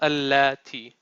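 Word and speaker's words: الَّتِي: And this is not this, how you pronounce this is allati.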